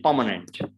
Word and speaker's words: permanent: Again, now the next one you can see, it's again R is before M. So it is permanent, permanent.